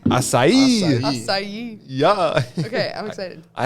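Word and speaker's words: açaí: so Maddie how do you say this again acai acai yeah okay I'm excited I haven't even had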